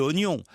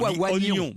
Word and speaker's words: oignon: un des exemples GAC c'est le I de oignon extraordinaire oignon on oignon et ben parce que